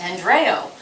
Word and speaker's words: Andreu: Um Andrew um my name uh pronouncing Catalan is Andreo.